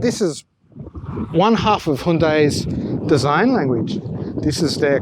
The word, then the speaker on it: Hyundai: Australians say Hyundai, but I like Hyundai because it rhymes with beautiful day and Santa Fe.